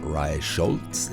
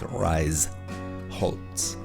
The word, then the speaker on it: Reisholz: This thing, just like the town we just went by, the station, it's not Reisholz, it's Reisholz. It's a break between syllables, not a combination of letters.